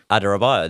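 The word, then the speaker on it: Adarabioyo: I can't pronounce his surname. How is it? Adarabayo.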